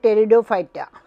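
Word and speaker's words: Pteridophyta: সন্ধান পাওয়া গেছে এরপরে টেরিডোফাইটা পি পিটা সাইলেন্ট এখানে পি টি ই আর আই ডি ও পি এইচ ওয়াই টি এ যে সকল রেণুধর উদ্ভিদের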